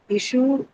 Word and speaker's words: issue: Issue again is a kind of word wherein we use both uh whether as a verb or a noun we'll use it on the uh first syllable.